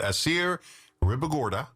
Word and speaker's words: Assier Ribagorda: Assier Ribagorda, saying it right.